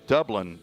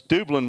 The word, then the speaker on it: Dublin: No, it's Dublin. Dublin, I believe, is how you pronounce that. It's Dublin when you go to Georgia, but it's Dublin. It's a north-south thing.